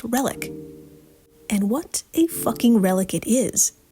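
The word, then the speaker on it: RELHIC: So, the acronym is pronounced relic.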